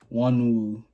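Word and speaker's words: Wonwoo: Wanwu. That's how you pronounce it.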